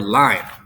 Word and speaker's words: line: Even though you notice that there's another vowel at the end, we don't actually pronounce that vowel. So if it was liney, it would be 2 syllables, but that's not how we pronounce line.